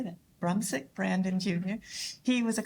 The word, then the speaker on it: Brumsic: Brumsic Brandon Jr.